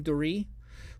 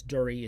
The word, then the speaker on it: Duri: blue and yellow because durie is spelled d-u-r-i it's actually i think it's pronounced turi but it's sec it's